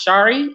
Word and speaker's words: Charis: just my own ideas Shari Henry see har is it looks like chairs but it's pronounced Shari and it's last name